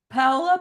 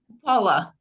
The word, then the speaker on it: Paola: okay thank you and I don't want to mispronounce your name ala you want to try that again yeah paa P paa yes hi I'm uh just a